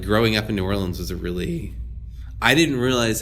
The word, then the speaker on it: New Orleans: I know you talked about you grew up in, I'm sorry, I should say it Nolans, but no, it's New Orleans.